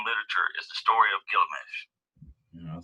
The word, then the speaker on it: Gilgamesh: All right, and I'm pronouncing it right here, but I don't pronounce it right on I would say Gilgamesh half the time, but it's Gilgamesh.